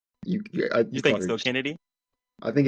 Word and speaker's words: Chennedy: Kennedy I think it's I think it's Kennedy it's just it's a unique well they say it's I mean literally it's spelled chennedy it's ch huh yeah I it's it's I'm pretty sure it's still Kennedy it's a it's not